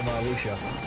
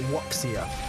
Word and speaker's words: wuxia: I think it's like kind of wuxia vibes. You know, any kind of cultivation-based myths. You know, things like ki and that kind of normal monk powers from D&D all comes from wuxia.